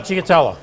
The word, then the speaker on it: stracciatella: And I'm going to give you back your oh, I'm going to pronounce it wrong. How do you say stracciatella? Stracciatella.